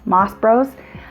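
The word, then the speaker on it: Mas Bros: I've got a 6-cup turner, but I have heard really good things about, I think it's pronounced Moss Brothers, M-A-S-B-R-O-S, Moss Bros, which is on Amazon,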